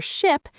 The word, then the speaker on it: ship: For ship, it's more relaxed and short.